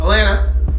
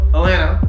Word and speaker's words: Atlanta: Clearly, you are not from Atlanta, because the natives of Atlanta pronounce it Atlanta, not Atlanta.